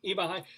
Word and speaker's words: Eva Heinemann: I'm sorry, Eva Heinemann.